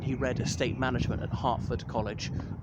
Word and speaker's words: Hertford: I know it's spelled Hertford, H-E-R-T-F-O-R-D, but it's pronounced Hertford.